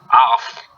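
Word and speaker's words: auf: Because a play like what I said was a Bnjy word in oath, I can't pronounce it, A-U-F, just can't pronounce it at all. Can you pronounce it? Off.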